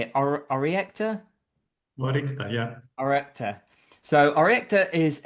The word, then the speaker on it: Orycta: Orycta, yeah.